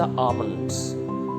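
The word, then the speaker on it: almond: Crush the आमंड्स। बादाम को आमंड बोलते हैं, एल इसमें साइलेंट है।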